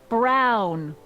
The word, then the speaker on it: Brown: to a t that's EMT Brown rhymes with clown which I'm beginning to